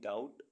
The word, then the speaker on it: doubt: DOUBT डाउट, डाउट means शक। ऐसे words जिनमें अल्फ़ाबेट सी साइलेंट रहता है।